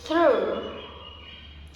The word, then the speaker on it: through: to pronounce as spelling even though it is pronounced ooh ooh ooh like through through this happens because of my mother tongue when